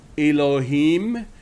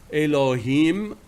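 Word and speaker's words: אלהים: In the Hebrew, and it is pronounced Elohim, Elohim, very similar to Allahumma.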